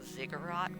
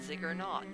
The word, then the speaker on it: ziggurat: son who kind of asked me if i was pronouncing ziggurat incorrectly which i was i was calling it zig or not so thanks to my son for pointing that out to me i i am notorious